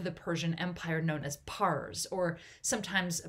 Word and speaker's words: Pars: small region of the Persian Empire known as Pars, or sometimes pronounced Fars.